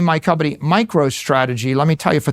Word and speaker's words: MicroStrategy: now I name my company MicroStrategy. Let me tell you, for 30 years, half our customers mispronounced it MicroStrategies.